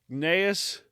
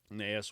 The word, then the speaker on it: Gnaeus: Yeah, it starts with a G, but I'm guessing I believe the G is silent.